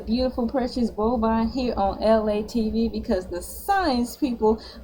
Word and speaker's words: Elay: It is me, LA, pronounced like LA from the.